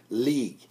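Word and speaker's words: Liège: the couple and the young boy were all shot dead near an Eastern Belgium city of I believe it's pronounced League l-i-e-g-e I could be wrong forgive me if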